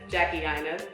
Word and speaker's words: Jackie Aina: Jackie Aina.